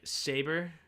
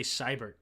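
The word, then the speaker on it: Sabert: Cyber is pronounced French-like, so it's like saber, if I'm translating correctly. Oh, so Austin Saber. Interesting. I heard other people say Cybert.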